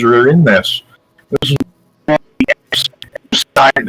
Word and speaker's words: Epstein: This is Epstein. Everybody says Epstein. It's actually pronounced Epstein.